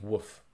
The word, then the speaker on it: wff: sometimes instead of sentence i will write wff which is pronounced woof that's short for well-formed formula um is there a